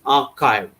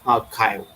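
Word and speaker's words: arXiv: the middle that is x is pronounced as kai or its greek letter kai not x in the english alphabet so that's why it is known as archive next is a bioarchive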